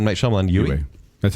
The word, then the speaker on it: Yue: But I will say, Princess, how do you pronounce this? Yue. I'm going to be M. Night Shyamalan. Yue.